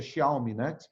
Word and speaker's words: Xiaomi: da Huawei e da Xiaomi, acho que é Xiaomi, né, que se pronuncia.